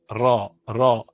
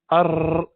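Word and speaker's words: ر: tip to the top and you pronounce the letter R are raw raw and you do not overdo it you do not drill it too much so if you do error that's wrong there's too much training and it's not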